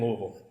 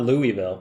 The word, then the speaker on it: Louisville: but it's made in Louisville one of the most fun cities to say yeah but nobody knows how to say it correctly yeah it's not Louisville its Louisville now you know that passes